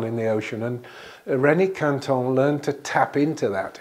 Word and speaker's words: Quinton: you see it there it's actually a Frenchman's name Renee Canton but we just pronouncing Quinton because we're English I guess its other